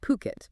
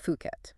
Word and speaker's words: Phuket: And just so we're clear for everyone listening, it's pronounced Puket. Yes. Puket, not Fuket.